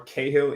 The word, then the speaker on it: Cahill: But yeah, so my name's Ryan Cahill or Cahill if you are unable to pronounce my name properly, which most people from the UK, US, Australia, and New Zealand are unable to do. Even though it seems really straightforward, it's not that many letters.